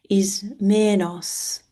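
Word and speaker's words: Ismenus: Bakos Bakos the river is manus which I don't know but is many may be named after is pronounced is menos is menos.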